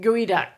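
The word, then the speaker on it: geoduck: a clam head or i think i said gooey duck which is a big clam so it's now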